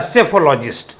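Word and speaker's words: psephologist: लिए जो वर्ड आएगा सेफोलॉजिस्ट इसको कहते हैं पी साइलेंट रहता है सेफोलॉजिस्ट नेक्स्ट वड पर्सन हु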